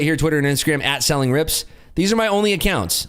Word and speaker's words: Selling Rips: At Selling Rips or Selling Grips, whichever way you want to read it, but it's Selling Rips. That's the correct way to pronounce it.